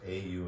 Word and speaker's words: Om: That feeling of 4 syllables, A-U-M, and then silence.